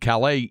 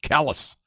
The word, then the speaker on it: Calais: Calais Maine is where that meteorite somebody said Calais is the proper French pronunciation for Cali man locals call it pronounce it callus I understand that yeah that the way something